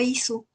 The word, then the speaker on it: Issuu: Lo subimos a ISU. ISU tiene muchas ventajas. Se escribe ISSUU porque tiene versiones gratuitas.